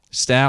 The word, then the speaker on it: Stough: Next up is Stough. Am I saying that properly? Stough. I wanted to make sure you said it right. That's perfect. That's exactly how I would say it.